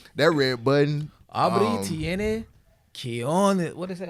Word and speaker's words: cojones: Abri tiene cojones.